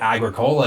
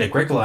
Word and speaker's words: Agricola: I called it Agricola because I saw it in only written text. Then someone said Agricola and I was like, oh, okay. This is actually a category I almost put on too.